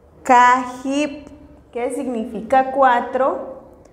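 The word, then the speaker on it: kajib': La pronunciación es Hun. Hun. Kep. Kep. Que significa dos. Oship. Oship. Que significa tres. Kahip. Kahip.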